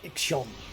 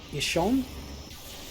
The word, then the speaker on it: Ixion: Come on, Ikshon. Ishon? You know, I'm gonna Google how to pronounce it. Ixion. Okay. It is Ixion.